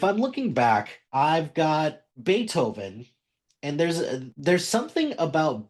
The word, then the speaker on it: Beethoven: So eventually once I found out like an idiot that is like it's pronounced Beethoven like oh my my bad about that and I I picked specifically Moonlight Sonata because it's it's beautiful piano music.